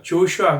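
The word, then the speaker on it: Joshua: 여호수아는 슈아슈아 영어에서는 오의 액센트가면 아바이라는 경에 있었어요 조슈아 그 슈아 그리고 사기가 저스 저지가 어 재판장이아요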